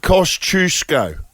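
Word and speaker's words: Kosciuszko: oh 100% I'm all about how things are pronounced mount cost chusco no yeah now you got to learn that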